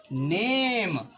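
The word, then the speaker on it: name: मात्रा, एम से म, और हमेशा ई साइलेंट हो जाता है कब, जब अंत में आता है तब। तो यह क्या लिखा है नेम।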